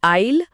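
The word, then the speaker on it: aisle: आईल और आईल। हां ये साइलेंट ऐसी तो सारा भ्रम पैदा करता है।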